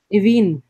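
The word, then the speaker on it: Aoibheann: The AOI always makes an E.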